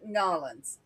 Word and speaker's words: New Orleans: Yeah, I'm ashamed to admit or New Orleans. It's Norins.